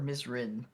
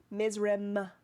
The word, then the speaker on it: Mizrim: Mizrim or Mizrin? Mizrim with an M.